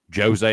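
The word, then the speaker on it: José: Jose Aldo Jr. I know you're supposed to pronounce it Jose.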